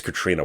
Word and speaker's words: Catriona: I always struggle with how to say it when it's spelled like that, because you want to say Catriona, but I think it's Katrina Ward.